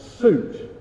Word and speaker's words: suit: Britain's actually indicated here he wants suit moot okay so not suit and not mute suit moot like a